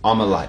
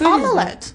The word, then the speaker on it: omelette: Omelette. Omelette. Omelette. So, in that video, the girl pronounces the schwa sound with an e sound.